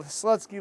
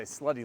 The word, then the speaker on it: Slutsky: We've almost ended our field trip down to the Slutsky Lumber here in beautiful Ellenville. I said it right that time. Normally I say Slutty Lumber, which it also is, John.